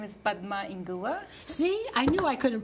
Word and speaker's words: Padma Inguva: pronounce your last name oh my name is bug ma in Goa see I knew I couldn't pronounce it I've been working on it and